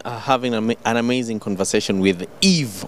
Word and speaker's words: Yves: I've been having an amazing conversation with Yves, Y-V-E-S. The S is silent, of course.